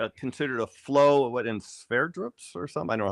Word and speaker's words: Sverdrups: What is, I know it's considered a flow, what, in Sverdrups or something? I don't know how to pronounce it. Sverdrups, yes.